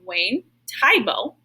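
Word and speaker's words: Wayne Thiebaud: you can see on the screen is named wayne tyboe and that's actually how you pronounce his name kind of sounds like a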